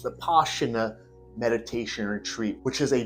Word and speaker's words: Vipassana: topic is on the 10-day Silent not the Posner actually pronounced The poshuna Meditation Retreat which is a donation based system